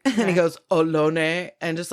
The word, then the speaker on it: Ohlone: in Fremont, which is Ohlone, Lisjan land, all of that. And I said Ohlone the way they pronounce it. And he goes, Ohlone, and just like corrects me in front of these people.